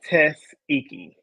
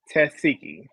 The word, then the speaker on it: Tasiki: are y'all thoughts about am I still saying her name wrong, y'all? Taseki? God, Tasiki. I feel like it's been so long. I should know this by now. She says it like Tasiki. Tasiki. That's how she say it.